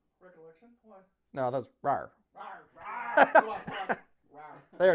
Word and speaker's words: RAR: Rawr, rawr.